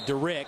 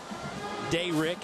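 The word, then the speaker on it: Da'Rick: And by the way, everybody's been pronouncing his name Derrick, but before the game today, Andre and I spoke with Dayrick, and that's what he wants to be called.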